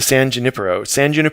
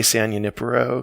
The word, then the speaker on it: San Junipero: That's how they pronounce it in the show. But me being a Californian, I have to say San Junipero because Nice. Got to put the emphasis on the right syllable.